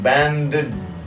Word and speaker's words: bandage: And this one, bandage. Again, same thing, a little D here. Banded, but don't say the D.